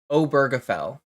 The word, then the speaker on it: Obergefell: Oh, someone in chat said it's Obergefell. So it is a hard G.